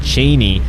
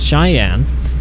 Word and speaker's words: Cheyenne: to pronounce i always i called it cheney initially but it's cheyenne uh when wyoming dlc